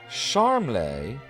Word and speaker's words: Charmles: you pronounce it again he seems to prefer prefer charmay like he's some kind of foreign Aristocrat but he's a lot closer to charmless if you ask me that's what I'm